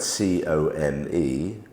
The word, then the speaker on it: come: The word come, we spell it C-O-M-E, but we're making not the vowel sound of O, long vowel sound of O, comb, we're making the short sound come.